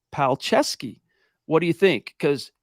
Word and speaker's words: Palczewski: out of this preseason you would never know it looking at the way his name is spelled PL p-a-l-c-z-e-w-s-k-i but it is in fact pronounced palcesky what do you think